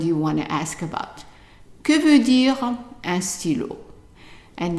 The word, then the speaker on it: que: So how would you pronounce this one here? Que.